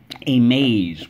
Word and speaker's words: amaze: First syllable, A. Second syllable, maze. Amaze. We have three things to mark up. Let's go. Underline the A, and the silent E twice. Draw an arrow back. Why? Wonderful. In this case, the silent E makes the A, because the silent E makes the A say A.